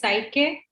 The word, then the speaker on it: psyche: children for the function how is this pronounced now s sy c e i think it's psi k yeah is the psyche